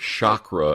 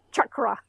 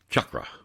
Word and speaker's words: chakra: do people sometimes pronounce it differently I've heard Shakra and all kinds of pronunciation that's cuz they don't know how to